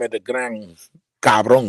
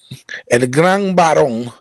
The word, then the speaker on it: El Gran Barón: Because I always call him El Gran Cabrón, because that's how I feel right now. And Gambaro. El Gran Barón was supposed to be on.